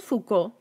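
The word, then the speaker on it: Foucault: el punto medio Michael fouca siempre me da nervios pronunciar este apellido porque se escribe focualt y el francés pues no se los manejó Michael fouca que fue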